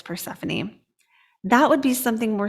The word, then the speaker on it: Persephone: poor persephone conjunct pluto it's spelled porcifina but it's persephone that would be something